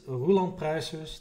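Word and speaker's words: Roland Pruijssers: My name is Roland Pruisers, that's the Dutch pronunciation.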